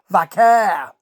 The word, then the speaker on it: Vaquer: Versus Julia and Stephanie Vaquer. That's how we're saying it now. Vaquer. Finally, I got a steer on how to say it. That's the way Vic pronounces it, and I'm going with Vic.